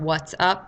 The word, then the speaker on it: Watts: the what's up watts i keep saying what's up because it's spelled w-a-t-t-s like watts and a light bulb not what's up so it's what's up um so that those